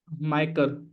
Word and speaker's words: MICR: magnetic Inc character recognization micr code uh pronounced micer uh is a nine